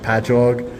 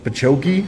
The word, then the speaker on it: Patchogue: that we have, it'll be like Patchogue, and they'll be like Pachoki, and I'm like, no, it's just ingrained into my brain that I know how to say them.